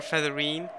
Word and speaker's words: Featherine: something I felt wrong I've always wanted to call her featherine and now now that I know it that's the correct way to say it ah feathery feathery